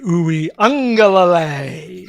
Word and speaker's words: Uiagalelei: But you can pronounce the name of Clemson's presumptive starter at quarterback. Who is that? TJ Uiagalelei.